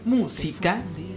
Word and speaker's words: música: Por eso, cáscara, al igual que música, tienen el mismo ritmo porque llevan el acento en la antepenúltima sílaba.